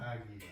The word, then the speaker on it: águila: And the U actually ends up being silent. So the UI again makes the E sound. Águila. Yeah, because the U is silent.